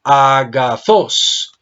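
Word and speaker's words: ἀγαθός: Agazos, si la divido en sílabas me da a, ga, bravo, zos. ¿Dónde tiene el acento la palabra? ¿Cuál es la sílaba tónica, hijo? Sos. Bravo, la última sílaba. ¿Qué tipo de acento es? Oxítono. Es oxítono, eso significa agudo en la última sílaba.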